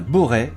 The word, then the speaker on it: Borest: de la chaîne et si ce village se prononce bien Boré il est indéniable que